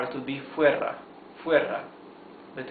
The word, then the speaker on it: fuera: Fuera. Fuera de. See that, check out that here it has 1 single R, so it is a smoother sound of the R. It's r, okay?